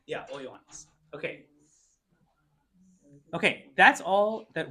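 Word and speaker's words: ὁ Ἰωάννης: Yeah, O Ioannis.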